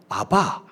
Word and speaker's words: 아바: 히브리 사람 즉 이스라엘 사람들은 아빠 우리랑 발음이 비슷하죠. 아바, 아빠 이렇게 이야기합니다. 근데 이것은 그냥 우리가 아버지를 부르는 아빠 정도의 의미가 아니고요.